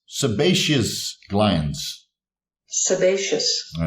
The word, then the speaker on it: sebaceous: on the right track here so sometimes I mispronounce it as seacus glands which is of course completely incorrect so I'll drink to that guys it is the sebaceous glands sebaceous all good which form um the